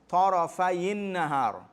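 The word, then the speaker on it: طَرَفَيِ النَّهَارِ: Now in the verse, how you read the verse? Tarafayin nahar. You read it with a kasra. Why? Because remember, you can't pronounce 2 sukun together.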